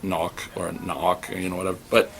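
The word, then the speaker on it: Nauck: It's Todd Knock. That's how it's pronounced, by the way, in case you're wondering.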